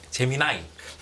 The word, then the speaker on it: 제미나이: 제 재미나 재미나 재미나니 제미나이 손을 출게요 저 표준으로 제미나이 얼핏 스펠링 봐서는 재민이 같은데 재미나 미국식 발음으로 재미 볼트 발음으로 하니까 진짜 그렇게 들리네요 진짜 재미나니 뭐 이런